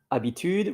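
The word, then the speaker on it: habitude: and over here in French it's aitude it's abitude which is h a b i T U D E and in Italian ab without the H, I think.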